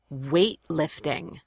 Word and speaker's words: weightlifting: Weightlifting. And in the word weightlifting, that GH right here is silent.